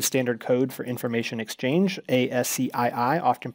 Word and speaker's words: ASCII: as the American Standard Code for information exchange ASCI I often pronounced ASCII and this was a 7-bit character